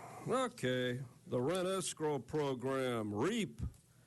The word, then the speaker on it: REAP: Okay, the rent escrow program, REAP, rhymes with rape.